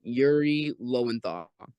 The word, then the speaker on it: Yuri Lowenthal: And then Yuri Lowenthal, which is Marvel Spider-Man 2. that is correct. That pronunciation.